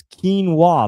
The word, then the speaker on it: quinoa: It's quinoa.